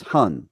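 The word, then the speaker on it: 魂: insightful okay so one of the spirits is Hun right that's how it's said hun okay yeah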